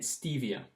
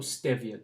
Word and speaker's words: stevia: You can use xylitol, erythritol, and stevia, or stevia, depending how you pronounce it.